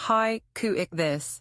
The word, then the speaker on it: Haikouichthys: مطلب ہے 'ہائیکو مچھلی'۔ اس کا تلفظ high-coo-ik-this ہے۔ یہ کسی بھی چیز